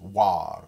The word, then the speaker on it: avoir: French, that the VW, you tend to drop the V. So you have, like for example, the verb to see, voir, and the verb to have, avoir, is pronounced war, ou avoir, very often.